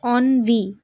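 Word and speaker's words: ennui: এরপরে অনভি এইযে উচ্চারণটা এটা হবে অনভি।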